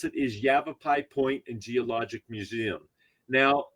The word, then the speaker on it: Yavapai: do you pronounce that well the way you pronounce it is Yavapai point and geologic Museum now a lot of